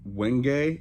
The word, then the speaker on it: wenge: But this is a material that is called wenge. It's like spelled like winge, but it's very splintery, very hard material.